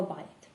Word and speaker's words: bit: дуже схожі дієслова, але яка різниця у вимові? «beat», що означає «бити»: тут звук [i], він у нас довгенький: . І «bit» - друга форма дієслова «bite», тут звук [i] він коротенький у нас: і більше цей